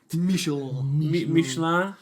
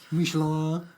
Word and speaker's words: Michelin: You're not saying it right. Michelin. Michelin.